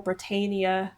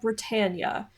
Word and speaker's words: Britannia: on Rule Britannia, and I unfortunately kept saying Rule Britannia back then because I didn't know the proper pronunciation, but a lot of you down in the comments got on to me about that and said that it is called Britannia.